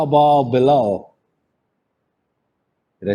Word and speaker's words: Bilal: How about Bilal?